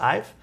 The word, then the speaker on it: IVE: I only listened to their first song today, so it's pronounced Ive.